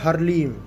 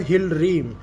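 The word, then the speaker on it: ह्लीं: और जो इनका सबसे शक्तिशाली जो बीज मंत्र होता है वो होता है हरलीम, हिलरीम। कोई हरलीम बोलता है उसको, कोई कुछ बोलता है, पर जो सही उसकी प्रोनाउंसिएशन है वो है हिलरीम, HILLREEM।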